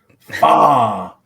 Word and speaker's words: Fatu: Uh Nick, I think you mispronounced his last name. Fatu. There we are.